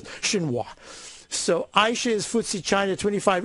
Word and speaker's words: Xinhua: to the shows and this is the way you pronounce it i believe it was xinhua so aisha's footsie china